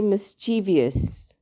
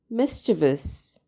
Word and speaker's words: mischievous: The correct pronunciation is mischievous. Okay? Mischievous. Remember, there are only 3 syllables, not 4.